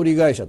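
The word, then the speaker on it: 一人会社: 言うんですね 1人会社と書いて 1 人会社という風に読みますうんてことは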